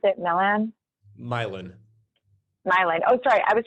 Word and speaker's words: Milan: what is going to be like the price difference of the French Quarter to, how did you pronounce it? Milan? Milan.